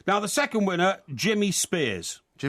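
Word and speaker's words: Spiers: No, it's spelled S P I E R S.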